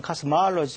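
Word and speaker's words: cosmology: 그래서 이건 두 개가 구분이 돼야 되고, 제일 혼돈되는 것이 코스모스라는 단어에서 나온 코스몰로지라는 단어가 있습니다. 코스몰로지, 영어로는 카스마알로지 이렇게 발음합니다.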